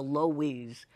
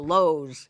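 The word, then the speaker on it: Loew's: place at the Lo's what we call the loise but now I know it's the Lowe's it was loise I mean what's wrong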